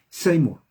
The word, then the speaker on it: Seymour: william joseph sí no sé la 1 se pronuncia seymour repita william joseph same quien era william show